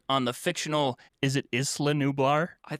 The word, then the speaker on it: Isla: It's pronounced like the word isle.